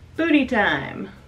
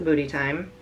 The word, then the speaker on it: Bhuty Thyme: a hot sauce called booty time which i bought because the label is adorable i love a pun so obviously this has ghost pepper in it the booty is spelled b-h-u-t-y so must be uh